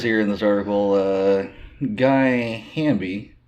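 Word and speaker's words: Geye: Yeah, his name is, it says here in this article, Guy Hamby. It's spelled G-E-Y-E, and they put in front of it, he's pronounced alternatively as Guy or racist anal douche.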